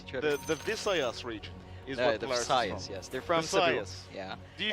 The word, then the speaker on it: Visayas: feel sad no but it is like bisaya in Filipino but it's a v in English but it's Messiah Pride